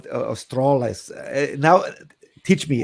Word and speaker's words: Strale: You told me before Strale or Strales. Now teach me how to pronounce, because it's not Strale, it's not Strale, it's Strale. Right? Yeah, that sounds pretty correct.